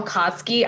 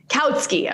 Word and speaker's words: Kautsky: Wait, tell me, is it pronounced Karl Kautsky? I never like actually said that name out loud. Kautsky.